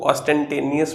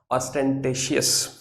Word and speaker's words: ostentatious: कुछ लोग इसको ऑस्टेंटेनियस बोलते हैं, लेकिन मुझे नहीं पता कि इसको ऐसा क्यों बोला जाता है, लेकिन इसकी प्रोनाउंसिएशन ये नहीं है, इसकी प्रोनाउंसिएशन है ऑस्टेंटेशियस। ऑस्टेंटेशियस है इसकी एक्चुअल में जो प्रोनाउंसिएशन है, और ये हमारा एक एडजेक्टिव है।